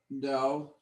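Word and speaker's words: Δαυίδ: So I'm going to write the word Daweed, Daweed. Okay. And this is a diphthong, Dow. Daweed.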